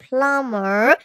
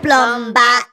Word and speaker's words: plumber: if you call him plumber he you he say what is that name of this the B is silent why put there listen